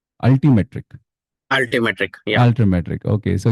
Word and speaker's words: Altimetrik: So we have Malolan with us, who is an assistant manager of talent acquisition at Almetrics. Am I pronouncing it right? Altimetrik.